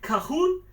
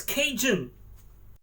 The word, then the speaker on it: Cajun: And it's as you know, I call it Cajon, and I learned it's Cajun. I'm most likely still pronouncing it wrong.